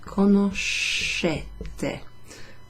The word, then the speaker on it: conoscete: So instead of conosci, we have conoscete. Pay attention to the SCE. There, that's a sh sound. It's not ske, it's sh.